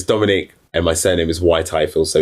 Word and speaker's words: Whyte-Ifill: Um, so it's Dominic and my surname is Y Tyfield. So it's spelled W H Y T E and little dash I F I L L.